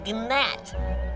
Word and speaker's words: gnat: to me you are a gnat there's a g silent it's not are you